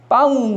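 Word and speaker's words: pão: 없으니까 포르투갈어로 이 빵을 뭐라고 그러냐면 빠웅이라고 그러거든요. 빠웅. 빠웅 하니까 빵이랑 비슷하죠.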